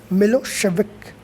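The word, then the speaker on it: Milošević: a narrow-minded serb nationalist milosevic pronounced milo shevik had won the election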